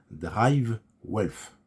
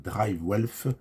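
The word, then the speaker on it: DriveWealth: un accord avec un courtier américain qui s'appelle Drive Wealth. Excusez ma très mauvaise prononciation anglaise. Donc Drive Wealth s'écrit D-R-I-V-E W-E-A-L-T-H.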